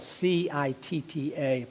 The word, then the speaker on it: citta: But the Pali word citta, it's actually spelled C-I-T-T-A, pronounced citta.